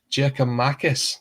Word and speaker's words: Giakoumakis: injury crisis um and international duties is giorgios jacob marcus now i had to say that right because